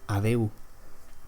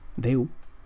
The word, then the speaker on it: adeu: And the most standard way is to say adeu. Adeu. You might also hear native speakers say just deu.